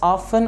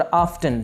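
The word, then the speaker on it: often: ये लफ्ज़ ऑफन और ऑफ्टन दोनों तरह से बोला जा सकता है, दोनों तरह से ठीक है, ऑफन या ऑफ्टन।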